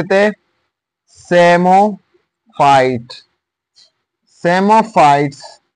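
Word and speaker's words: psammophyte: हम नाम दे देते सेमो फाइट सेमो फाइट सेमो फाइट और इसमें पी जो है य साइलेंट है और सेम फा सेमो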